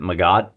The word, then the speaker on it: MGOT: He says he pronounces it Magot, but an MGOT is, when you're dealing with this level of warfare, it's anything with a big old gun.